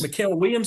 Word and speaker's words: Mikael Williams: Mikael Williams is how you say his name.